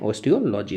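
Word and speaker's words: osteology: बोस इसको कहते हैं एस्ट्रोलॉजी ऑस्टो लॉजी क्या कहते हैं ऑस्टो लॉजी ठीक है ओस्टियोलॉजी इसको पढ़ लीजिएगा मैं लिख देता हूं स्पेलिंग आप सभी जा इसके अंतर्गत ओ एस टी ई ओ एल ओ जी वाई ठीक है ये जी है ओस्टियोलॉजी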